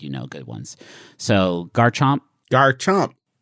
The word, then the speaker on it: Garchomp: So, Garchomp. Garchomp. Don't say it like you're at a French restaurant trying to get the waiter's attention. Garchomp.